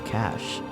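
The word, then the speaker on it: cache: still in my computer's cash okay it's pronounced cash thank you well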